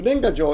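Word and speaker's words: 年賀状: goofy Noise Okay so that word is called nengajo and check this check out this beauty of this oops no uh nenga Jo yes check it out right so nenga Jo is pronounced nenga Jo and that's New Year's cards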